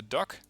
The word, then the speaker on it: DUKW: This is the, and I looked this up, it's usually pronounced the Duck, no surprise there.